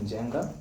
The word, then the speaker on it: Njenga: do that yeah so my name is Jenga but you can call me whichever I'm